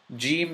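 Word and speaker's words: جيم: gene gene is a gene is characterized by you know you have a tongue and jaw meeting you're meeting the roof of your mouth right before you know right before where your teeth begin it's very similar to the following words in the English language gesture job Jim James it's very similar to those they start with either G or J but the closest sound is the jaw sound or the J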